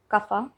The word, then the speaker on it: Kapha: It's the ph is pronounced as f, so we call it kapha, right?